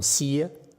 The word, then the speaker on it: CIA: Or in Vietnam, we call them Sia. You're not Vietnamese, you don't appreciate the Vietnamese joke. Okay. CIA, pronounced as Sia in Vietnamese.